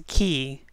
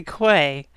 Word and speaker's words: quay: stuff in the key it's weird how they pronounce the key because you want to say quay i'm pretty sure i said koi when i first did this project too i don't know it's